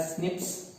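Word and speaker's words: SNPs: Single nucleotide पॉलीमॉर्फिज्म्स, we call them as स्निप्स, pronounce it एज स्निप्स. एसएनपी नहीं बोलने का, उसको स्निप बोलने का.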